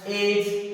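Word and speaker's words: edge: अब आने वाला देखो एज, अब इसको क्या पढ़ना है एज पढ़ना है, इसको ऐसे मत पढ़ना एडस, एडस नहीं होती, ये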